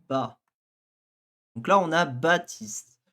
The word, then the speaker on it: Baptiste: Donc là, on a Baptiste. Le P, on le prononce pas en français, donc techniquement, on met pas de P.